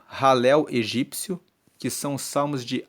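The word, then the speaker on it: Hallel: de Salmos de aleluia egípcio ralel se escreve h a l l e l e ralel é a abreviação de aleluia porque Aleluia se escreve h a l l e l u y a é Aleluia então halel é uma abreviação de aleluia só que é ralel egípcio Ou seja louvamos a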